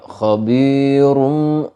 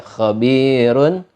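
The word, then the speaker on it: خبير: Enggak dibaca khabirum, khabir, ro-nya itu tipis, dibaca khabirun, qadirun, kabirun.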